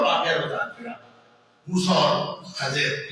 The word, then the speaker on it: خضر: دیا، موسیٰ اور خضر۔ یہ اصل میں جو لفظ ہے یہ خضر ہے، اس کا صحیح جو تلفظ ہے وہ خضر ہے، خافض زبر ہے، ضاد کے نیچے زیر ہے اور خضر، لیکن یہ اس کا ایک دوسرا تلفظ خضر بھی ہے، خضر غلط ہے، خضر، خا کے نیچے